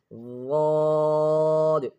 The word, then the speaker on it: ضاد: ضاد. This is also a heavy letter, and this is pronounced from one side of the tongue. Listen carefully. From one side of the tongue touching the upper back teeth.